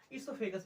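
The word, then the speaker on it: oesophagus: ईसोफेगस बोलेंगे। ओ हमारे यहाँ पे क्या? ओ साइलेंट रहता है।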